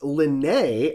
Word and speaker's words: Linnea: My aunt is pronounced Linnea. I wonder if they just don't see the EA as transposed. I don't know. To me, it's always EA is A.